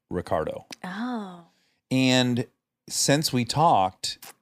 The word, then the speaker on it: Ricciardo: it would be pronounced richardo yeah there's two C's there's two C's but because he grew up in Australia he pronounces it Ricardo oh and since we